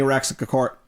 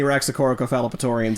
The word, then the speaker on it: Raxacoricofallapatorian: No offense to any Raxacoricofallapatorians Damn it. No offense. You didn't say it right. No offense to any Raxacoricophalopatorians in the Hey, audience.